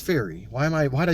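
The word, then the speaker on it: Feri: oh or fairy did I say fairy it's fairy why am I why did I say her name wrong this whole video oh man anyway um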